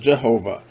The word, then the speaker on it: Jehovah: And the translators took the next A from Adonai and put it between the last V and the H in the name of the Tetragrammaton. It now becomes Yahovah, which is now pronounced Jehovah. You see, this is totally a man-made name for God, the Yahovah, or as we now pronounce it, Jehovah.